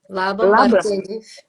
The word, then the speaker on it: Laban: Eh, especialista em sistema Laban, como se pronuncia? Como como se diz? Labam. Laban.